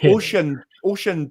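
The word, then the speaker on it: Oisín: It's like Oshin but in, so it's like Oshin, I think is how you say it.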